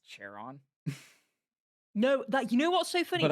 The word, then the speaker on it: Charon: I've also heard some people call it Charon. Yeah, But what's really funny is when you look at the traditional way that a lot of Greek things were pronounced, it was actually probably pronounced Charon. But I Charon. like saying it Karen because I just think it's funny to be a Karen, basically.